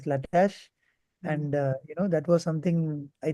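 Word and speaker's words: Latisse: And I was taught that the eyelashes will also lengthen, and that's how the company marketed a product called Lattice, or pronounced as Latash.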